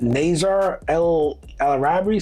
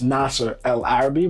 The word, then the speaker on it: Nasser El Arabi: can I speak to Nazar El Arabi?" Saying my name. You know, my name is pronounced Nasser El Arabi, but some people just can't get it.